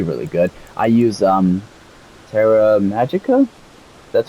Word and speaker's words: Terra Magicka: Shards it'll be really good I use um Terra Magicka that's how you say it also it rages